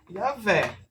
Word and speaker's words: Yahvé: Então, essas duas referências é basicamente o que tem de mais sólido para se deduzir que seria Yahvé. Só que vem um detalhe. O erro dessa pronúncia, falando gramaticalmente em hebraico, é justamente esse é.